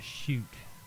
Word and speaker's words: Sheut: Then you have the shoot, which is the Sheut, and that's the shadow.